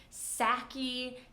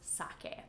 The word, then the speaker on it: sake: A lot of people say sake, and people will understand you, but it's not really correct. So if you drink alcohol, you might order a Japanese sake.